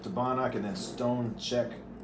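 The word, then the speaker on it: Čech: But when you get up to Banach and then stone check, stone is spelled as stone and check is CECH.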